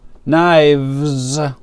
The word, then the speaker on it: knives: I have three knives. I have three knives. Knives. We don't pronounce the K.